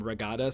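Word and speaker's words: Ra Gada: of issues calling them Ragada, so they just call it Red Guards, I guess. It's like a mispronunciation of their original name.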